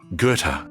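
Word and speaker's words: Gerðr: Gereda, pronounced roughly Gerta.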